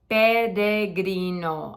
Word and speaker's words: peregrino: are pilgrims they're not peregrinos or peregrinas or that are again think of it as a d pedegrino I'm a peregrino peregrina